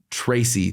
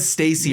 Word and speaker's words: Tracey: I'm going to say Tracey. There we go. Yes. I said Stacy earlier and I keep on saying it wrong in my head.